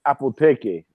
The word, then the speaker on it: Apotheke: Because in German it's Apotheke, something like that. That's how they pronounce it.